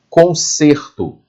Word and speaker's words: conserto: Conserto. O timbre da vogal e saiu fechado. Conserto. Imagine que ali existe um acento circunflexo, né? O chapeuzinho do vovô. Conserto. Olha o som fechado.